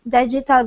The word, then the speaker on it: digital: There were his football posters on the wall, his digital clock on his dresser flashing 10:31 p.m. All right. Okay, this word here is digital. Digital. Stress at the beginning.